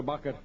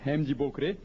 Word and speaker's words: Bokre: Bakre. That's right, the correct pronunciation is Hemji Bokre.